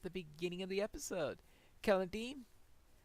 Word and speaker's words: Celondim: beginning of the episode Calladine I'm using a hard C on that and that is because Tolkien says that in the in his elvish languages the seas are always hard as in classical Latin in classical Latin these